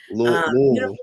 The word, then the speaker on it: Louisville: Um Louisville, we say Louisville.